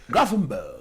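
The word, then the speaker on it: Gravenberch: This is Graffinberg. That's the pronunciation OF THE is the pronunciation.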